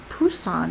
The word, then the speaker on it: Busan: Busousan located in the southeast of coast of South Korea is now more accurately spelled with a B in English because the beginning sound is softer unlike the hard P sound.